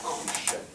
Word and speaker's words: hanche: And so that's same word here, only the H is silent in French, so it is hanche.